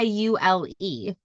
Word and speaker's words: Yule: It's spelled y u l e. But you say it ule like with a double o.